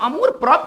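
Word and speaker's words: amour-propre: proper पढ़ेंगे इसको ठीक है ना इसका जो उच्चारण पढ़ेंगे वो होगा मतलब अमूर प्रोप का मतलब क्या होता है सेल्फ रिस्पेक्ट ठीक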